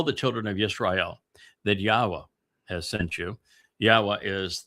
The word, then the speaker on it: Yahowah: I systematically prove, irrefutably, that the proper pronunciation of Yod He Wah He is as Yahowah.